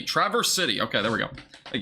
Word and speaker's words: Traverse City: real quick if I can find an action pronunciation Traverse City Traverse City okay there we go thank you yeah so